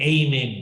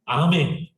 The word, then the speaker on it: 아멘: 미국 사람들은 에이멘 그래요. 별로 발음이 안 좋은 거야. 그렇죠? 아멘. 한국 사람이 더 정확해. 영국 사람들도 아멘. 그렇죠? 영국 사람들은 발음하는 게. 미국 사람들은 아를 전부 다 A로 바꾸거든요. 그거는 이제 이상한 거죠.